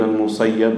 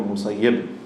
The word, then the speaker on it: al-Musayyib: of Sa'id ibn al-Musayyib, with the kasra, both correct to pronounce. Sa'id ibn al-Musayyib or Musayyib.